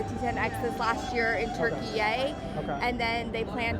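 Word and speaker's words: Türkiye: year it's a really interesting Turkish cubby actually turkey is how it's pronounced now um and they do not refer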